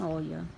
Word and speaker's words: Oia: Nós estamos em Oia, que se escreve Oia, mas fala Ia, né?